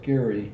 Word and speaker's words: Geary: Gary, Geary, but pronounced Gary, as though there was no E in it.